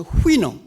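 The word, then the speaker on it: Houyhnhnm: 이 발음 보세요. 영어에 이렇게 자음이 6개, 7개 겹치는 경우가 없거든요. 모음도 하나도 없이. 그래서 발음을 어떻게 할지 굉장히 아주 난감합니다. 그런데 대개 영미 사람들은 그걸 후이놈이라고 발음을 합니다.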